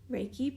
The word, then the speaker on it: Reiki: to offer what is raiki Reiki is a universal life force energy Reiki pronounced Reiki comes from the Japanese Ki characters Ray meaning Universal and key meaning life force energy it is energy and